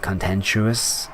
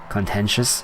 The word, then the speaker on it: contentious: It's still a very I think it's kind of a cont contentuous is it is that how you say it? Contentious.